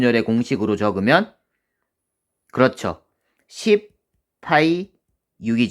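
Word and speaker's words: π: 머리끝 짭 키에 해당하는 그리스 문자로 파이 라고 읽어요 여러분 파이는 처음 들어보는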